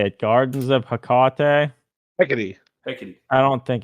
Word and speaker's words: Hecate: Daniel Trejo, the way he typed it still doesn't make it clear how to say it. This Google lady, this Google lady is telling me that it's Hecate. If Anna says it's any other way, she is wrong too.